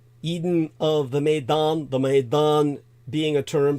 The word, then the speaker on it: maidan: for stepp S TP Eden of the Maan as in Maiden but M AE i d n Eden of the maidan the Maan being a